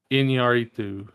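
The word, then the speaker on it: Iñárritu: So, for posterity, his last name is pronounced Yeah, you said it right. Inarito.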